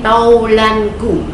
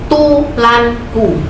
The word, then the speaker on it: taulanku: Ada lagi kata dan handai taulanku. Anak-anak kalau berbicara handai tulanku pakai u, padahal di situ ada a.